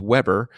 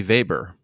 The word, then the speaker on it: Weber: the regular pronunciation is Weber and the German pronunciation would be Weber so let's go with